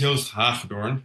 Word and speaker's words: Joost Hagedoorn: Um, so my name is Jose Horn. It's a Dutch name. It's very hard to pronounce, but it's like Joseph Hawthorne, but then the Dutch version.